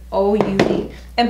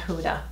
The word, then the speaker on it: Huda: Oh, let's go in with OUD. And by the way, I think I said her name wrong. I think it's pronounced Ouda, not Huda. Ouda is how you pronounce it, so I apologize.